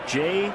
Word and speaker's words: Jair: It's J-A-I-R. I guess that J is a soft J.